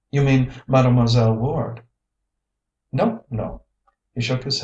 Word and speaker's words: Ward: "Mademoiselle Ware" he pronounced it Ware "is magnificent.